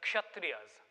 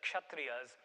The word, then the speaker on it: Kshatriya: The second, a word that most Americans find hard to pronounce, is the Kshatriyas, the K and the S. There's no silent K or S. It's the Kshatriyas, who were the warrior class.